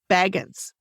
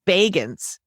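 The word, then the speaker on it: Bagans: it a lot but i always called him baggins like he was some kind of hobbit or something isn't that his name it's bagens oh he pronounces it bacons and i was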